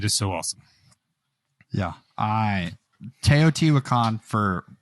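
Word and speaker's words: Teotihuacan: two plays it is so awesome yeah I toot wakan for pronunciation if you're going to look up this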